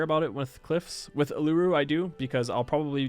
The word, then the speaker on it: Uluru: I think it's actually Uluru, if I'm correct. I believe it's pronounced Uluru, not Uluru. But like it is a desert wonder, and it's the best desert wonder, I think.